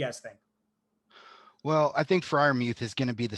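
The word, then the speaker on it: Freiermuth: No one comes close to Kyle Pitts, but Pat Fryermuth, I don't know if I definitely didn't pronounce that right. Muth. Fryermuth. Muth. Yeah. Fryermuth.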